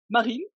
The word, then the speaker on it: Marines: Alors, je ne sais jamais si on prononce le S de ton nom de famille. On le prononce Non, pas.